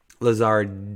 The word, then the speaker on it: Lazard: Lazard, duh. There's a D there. I don't think I pronounced it or enunciated it.